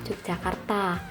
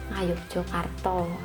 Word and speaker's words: Yogyakarta: Dalam pelafalannya sehari-hari, Yogyakarta biasanya diucapkan dengan kata Yogyakarta atau dalam bahasa Jawa Ngayogyakarta.